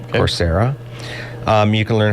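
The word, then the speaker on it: Coursera: website called corsera and that's spelled c u r s e r a no like the word course yeah corsera um you can learn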